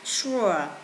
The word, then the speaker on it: sure: Và câu B thì các bạn là không đọc nurture mà các đọc là sure, or.